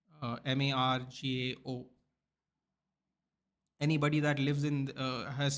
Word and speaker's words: Margao: If you ask anybody that lives in this state, Madgaon, they aren't from here.